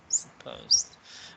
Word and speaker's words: suppose: Supposed. When you're not sure, just check where is the apostrophe right here. And the apostrophe is always before the stressed syllable. So it's the second one.